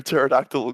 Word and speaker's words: pterodactyl: mean the jokes um why can't you hear a pterodactyl go to the bathroom because the p is silent versus noodle which is